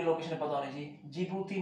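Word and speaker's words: Djibouti: Target किया सबसे पहले एक छोटे से देश जिबूती को।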